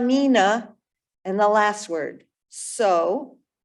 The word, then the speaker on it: Mina: But Tuma, Mina, M-I-N-A, Mina. Great. So it goes Tuma Mina, Tuma Mina. We'll get to the rhythm in a minute. Tuma Mina, and the last word.